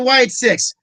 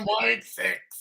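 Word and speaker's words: Wyatt Sicks: It's the Wyatt 6.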